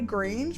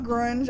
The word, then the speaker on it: Grange: By the way, Grange mud room GR, not grunge, obviously there's not a U there, but grunge. That just doesn't sound right to me.